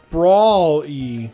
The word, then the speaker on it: Brawly: It's spelled different. It's like yeah, Brawl. because it's like Brawl-y. Brawly.